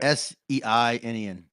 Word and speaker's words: seinen: Seinen? Seinen? I don't remember how to pronounce it. Seinen. Seinen. Yeah. Seinen.